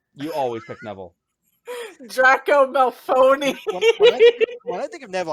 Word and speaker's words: Malfoy: Draco Malfoy, Where did that N come from? It's Draco Malfoy. Malfoy.